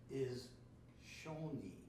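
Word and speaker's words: 一緒に: So this is a Japanese word for together, and it's, I think it's on your invite, is shoni. So that's the pronunciation.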